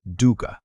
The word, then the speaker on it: dukkha: The second is dukkha. Say it like duke coke.